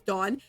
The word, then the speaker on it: Dawn: And the funny thing is I told him it's pronounced as Dawn. And when she introduced herself, she pronounced it Dawn, like the rising dawn, dawn in the sky, Dawn.